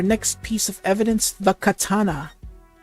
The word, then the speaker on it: katana: Alright, so we get our next piece of evidence, the katana. That's pronounced katana, not kitana. There's no I in katana.